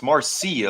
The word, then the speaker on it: Marcy: The way I'm hearing his name pronounced, it's Marci. A little emphasis on the C part on the SE E, but I guess and